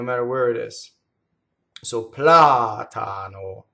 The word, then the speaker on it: platano: Here we have another antepenultimate stress, the word platano. So the accent is on the first ah.